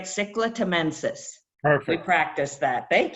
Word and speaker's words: Cichla temensis: Cichla temensis.